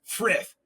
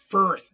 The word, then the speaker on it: Frith: Hey Brock, it's Frith, not FTH, you ask.